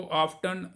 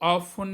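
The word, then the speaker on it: often: या रशिया में, तो अमेरिका में इसको ऑफ्टन, रशिया में इसको ये दूसरा ऑफन कहते हैं। तो ये इस तरह से आप इसको प्रोनाउंस कर सकते हैं, और मैं आपको रिकमेंड करूंगा कि आप इसको ऑफन ही बोलिए।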